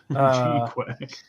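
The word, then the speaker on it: GQuuuuuX: G-Quack. Yeah. It's pronounced GQUUUUUUUUX.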